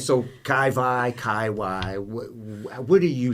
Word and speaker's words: Kai Wai: Wai or I'll say Kai Wai and they'll be like, but it's spelled with a W. And I'm just like, but it's Hawaiian, so I just find it easier to say Kai Wai.